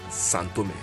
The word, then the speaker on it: São Tomé: video I pronounced it the way the locals pronounce it which is santome let us go out and visit a few